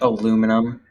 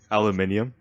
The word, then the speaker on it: aluminium: well t72 moment yeah i mean it's pronounced aluminum aluminium off not where i'm from wait wait is that